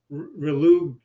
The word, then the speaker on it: Relugolix: ago, and he said, accent on the go, Relugolix and Relugolix.